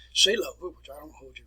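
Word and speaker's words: Seelöwe: it is known as if we put that in german it's operation cellova say love which i don't hold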